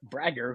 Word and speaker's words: Brager: It's it's a long a but it's okay.